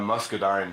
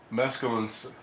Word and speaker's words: muscadine: Cynthia do you mean grape jelly or that Muscadine jelly if I'm reading that right or pronouncing it right musculin musculin Southern grapes musculine I don't know if